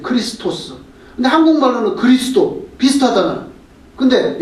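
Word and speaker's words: Χριστός: 헬라말로도 그리스도는 크리스토스예요. 크리스토스.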